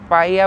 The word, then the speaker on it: paella: उससे कंफ्यूजन मत होना पाया बोलते हैं पाया मतलब यहां पे जो एल होता है ना वो साइलेंट होता है वो प्रोनाउंस नहीं करते हैं। जैसे मैंने आपको कासा मिया दिखाया उसका नाम एम आई एल ए है। बट एल साइलेंट है। तो पाया में भी पी ए इ एल एल ए बट उसको पाया बोलते हैं।